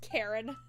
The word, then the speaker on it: Cairn: Camber, Cairn, pronounced Karen.